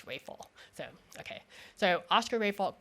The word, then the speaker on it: Raphael: said no no no we don't pronounce it Raphael it's Rafel.